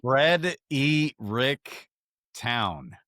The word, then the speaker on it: Fredericktown: Fred E. Rick Town. That's how you Okay.